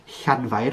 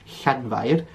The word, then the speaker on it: Llanfair: the h, is by putting your tongue on the roof of your mouth and blowing out. That one is one you might need to practice, but I have heard some people, even in Wales, pronounce it as like a cl noise, like a cl.